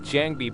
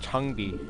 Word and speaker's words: Jangbi: The thing is that when they read the last letter, especially for the name like Jangbi, they go like Jangbi, but the pronunciation in Korean is Changbi.